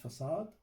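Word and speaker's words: façade: this facade design pattern is pronounced facade okay this one is the pronounce facade actually it provides you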